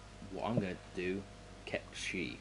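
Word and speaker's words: Cait Sith: W Square we encounter Kate Sith or in what I'm going to do kep shei because that is how he he is pronounced he's a fortune teller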